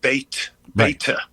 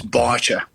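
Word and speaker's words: Báite: No, I mean I mean Well, it might look like bait beta in English. Um there's a fod on the um a fod is a very important thing. It changes an a in the Irish language from an a to an o. So it's barer.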